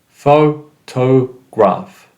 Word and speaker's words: photograph: the third syllable photograph so in photograph as you see we stress the first syllable excuse the mistake it